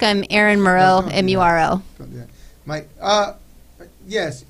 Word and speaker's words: Muro: I'm Aaron Muro, Don't do M-U-R-O. Don't do that. Mike, yes. Aaron, say that again, Aaron Murrow?